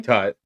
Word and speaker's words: Tut: King Tut.